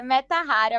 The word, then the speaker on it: Mettahara: o papo já perguntando se eu tô pronunciando certo tá certo é meta Rara mesmo nossa muita gente tem